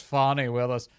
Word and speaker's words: Fani Willis: to be falling apart Fanny Willis or is it fonny they keep saying it's fonny Willis stop policing my pronunciations I like Fanny much better Fanny is a a